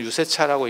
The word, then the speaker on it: 유세차: 원래는 유세차라고 읽는게 아니고 유세차 이렇게 읽거든. 유를 굉장히 길게 빼거든.